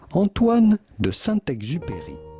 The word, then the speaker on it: Antoine de Saint-Exupéry: How do you go about pronouncing his name with the typical French pronunciation? Antoine de Saint-Exupéry. Antoine de Saint-Exupéry.